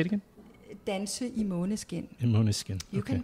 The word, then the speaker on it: Danse i Måneskin: Danse i Måneskin.